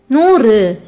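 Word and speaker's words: நூறு: While pronouncing it, your tip of the tongue touches the back of your teeth. Then ru, a short sound letter, together noor.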